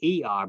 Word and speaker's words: Er: His first son it's spelled E-R, but it's Er is the way you pronounce his name.